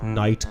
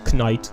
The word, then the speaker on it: knight: Now I'm trying to think of other words with silent letters like knight, knight.